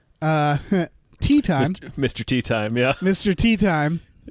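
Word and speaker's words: Teatime: Tea Time, yeah. Mr. Tea Time. Tea Timmy is what he keeps telling everybody his name is pronounced.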